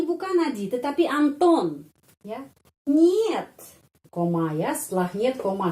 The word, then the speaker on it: нет: Tidak itu нет, нет. Kata нет, kalau kita no, ya no, it is not a palace. No atau нет, pengucapannya seperti dalam kata monyet ya, нет, нет, monyet.